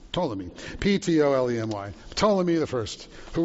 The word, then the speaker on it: Ptolemy: Judea and its capital Jerusalem fell under the control of Ptolemy, which had never been spelled with a P, but Ptolemy, Ptolemy, Ptolemy the First, who ruled the region from Alexandria, which was the center of Egyptian power.